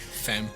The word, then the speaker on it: fem: Fem. That's how you say it in Swedish.